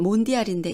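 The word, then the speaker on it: Mondiale: 씨는 콩페데라시옹이라고 읽으며 연맹을 뜻합니다. M은 몬디알인데 이는 세계라는 뜻이며 이어지는 대는 무엇의를 뜻합니다.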